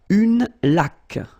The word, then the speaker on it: laque: Une laque. Remember the rule when you get this QU, well, U is not pronounced, so you get k like that. Une laque.